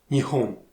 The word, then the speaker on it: Nihon: On va garder la prononciation chinoise Onyomi, qui est donc Nihon, Nippon, à la différence de la lecture japonaise Konyomi, qui était Hinomoto.